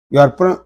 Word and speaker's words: ewe: So here E is there, but it is silent, and we are pronouncing the from these 2 letters, and these 2 letters are giving the sound of U.